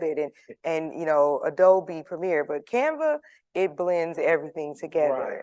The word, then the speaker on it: Canva: Is it Canvas? Oh, Canva.